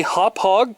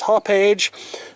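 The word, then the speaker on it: Hauppauge: to see this the company name is actually hop hog Computer Works yes that is actually how that is pronounced I always thought that it was hoppage but I was corrected about that when I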